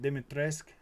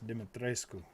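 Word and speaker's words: Dimitrescu: evil eight lady demetrescu she tries to pronounce it dimitresk and it's uh no lady it's demetrescu gotta get the you in there it's just funny it's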